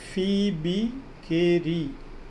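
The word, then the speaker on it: Phoebe Cary: Spelling को चोट पढ़ाने. फीबी केरी इसका प्रोनाउंसिएशन है.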